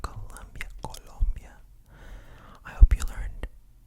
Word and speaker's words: Colombia: But basically it's an area in Colombia that is very focused on growing coffee beans.